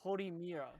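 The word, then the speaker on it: Horimiya: But so the one that you kept on mispronouncing, it's The hoe? its title It's a hoe. is Horimira.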